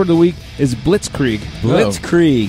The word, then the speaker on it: blitzkrieg: the week is blitzkrieg blitzkrieg yeah only two syllables blitzkrieg we scream well